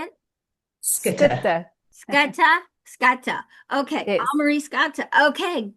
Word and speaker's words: Schutte: And Elmari, and is it Schulte? Schutte. How do you say it? Schutte. Scatta? Scatta.